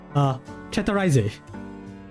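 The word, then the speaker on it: Chateraisé: Oh wait, let me just pronounce that properly, because it is a Japanese brand. Chatteraiser.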